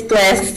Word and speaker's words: Blisse: What about Blise Lester? And Blise, an individual, is in support. Hi, yes, that's me. And I'm sorry if I mispronounced your name. It's okay, it's Bliss, but that's fine.